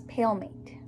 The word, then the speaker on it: palmate: So P-A-L-M-A-T-E. Okay, everybody spell it with me. Ready? P-A-L-M-A-T-E. Palmate. Okay? Palmate is kind of the two words that you see there. I know you almost want to say palmate, but that's not the right word, okay?